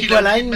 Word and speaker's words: Equaline: Il y a une petite erreur dans la prononciation. C'est Equaline, normalement. Il a oublié Equaline. Non, il a fait à la française.